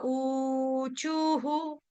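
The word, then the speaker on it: ऊचुः: छोटा हु, यानी कि विसर्ग का उच्चारण हम हु के साथ करेंगे। क्यों? क्योंकि विसर्ग से पहले चू है, इसीलिए हम करेंगे हु।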